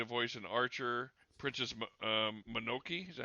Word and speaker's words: Mononoke: Princess Mononoke, is that how you pronounce it?